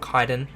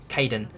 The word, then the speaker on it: Kaedin: Not Kaedin. Kaedin.